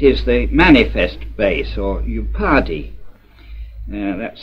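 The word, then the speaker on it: upadhi: It is the manifest base, or upadi, that's spelled U-P-A-D-H-I, of all sentience, life, and intelligence, or consciousness in a general sense.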